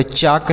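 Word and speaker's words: chalk: देंगे तो यह होगा चाक सी एच ए एल के चाक नेक्स्ट देखते हैं एफ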